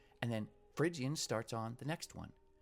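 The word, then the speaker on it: Phrygian: four basic modes Dorian frian lydian mixian you might be able to remember this if you remember that don't pinch Little Monkeys Dorian lydian frian spelled with a p mixian don't pinch little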